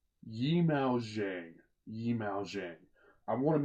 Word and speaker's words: Zhang Yimou: want to make sure I say that's right yimou zhang yimou zhang i want to make sure pronounce his name rank because he's an absolute